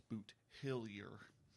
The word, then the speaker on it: Boothilier: th L I are phonetically it's boot hillier nice I'm sure I'll